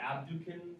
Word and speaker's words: abducens: This one you pronounce either, you can say, I forgot the D, didn't I? Abducens. You can also say abducens, it just sounds a little different.